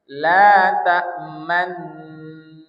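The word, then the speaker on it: تَأْمَنَّا: Jadi tetap bacanya manna tapi monyong itu manna. Tak berubah. Tak berubah harakat ya. La tamna 1 2 3 la nah pas nanya itu na ah. Jadi monyong itu cuma isyarat bahwasanya itu ada domah. Dan jangan berubah bunyi ya. Jangan la ta maun maun.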